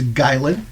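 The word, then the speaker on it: Gylan: know is King gin so it is spelled g y l an if it helps but it's gin that's his name these group of adventurers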